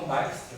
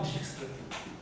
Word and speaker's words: Dijkstra: A maioria das pessoas por aí falam Dijkstra, que é o nome dele. Eu falo Dijkstra, tá? Porque ele não é americano, ele é holandês.